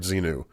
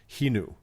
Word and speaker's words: Xenu: I'm sorry, I hate to correct you on the air, Doug, but I believe it's pronounced Xenu, like Javier, right?